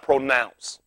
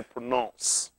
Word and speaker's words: pronounce: You start out pronounce, just like ounce. And you don't throw the N, and you got to say pronounce, because you're an idiot.